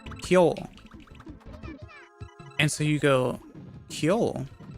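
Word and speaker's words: 今日: But the word, but the word for today is actually pronounced kyo.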